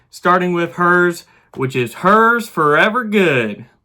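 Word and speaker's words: Herr's: all right, against the 8th seed Hers, or Hairs. I'm going to say Hers. Let's see how to pronounce it real quick. Hers.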